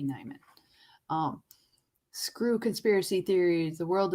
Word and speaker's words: Nieman: Nieman Lab, spelled like N-I-E. So it might be Nieman.